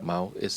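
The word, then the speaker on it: Maus: Mouse. That's how it's pronounced.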